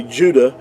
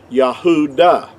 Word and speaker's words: Judah: our English we say juda which is totally inaccurate because there's no J sound in ancient Hebrew but the word Judah